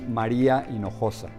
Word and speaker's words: Maria Hinojosa: once one of them I like how Maria pronounces her name it is Maria in Noosa from Mexico City just